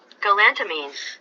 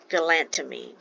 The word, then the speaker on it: galantamine: Radine Radine okay and then rid the generic pronunciation of that one is going to be galantamine galantamine all right so some of the expected side